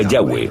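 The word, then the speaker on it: Yahweh: y hw h y pensamos que probablemente se pronunciaba yagüe o algo así pero ya ve solo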